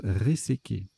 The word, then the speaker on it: réséquer: Alors, ça se prononce resséquer.